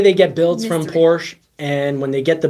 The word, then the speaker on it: Porsche: building price it's a whole building price for Porsche should always say Porsche that's the proper pronunciation the price they cost I think I